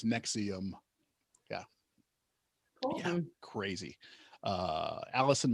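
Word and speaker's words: NXIVM: even stupider than that it's NX uh I VM pronounced Nexium okay okay you know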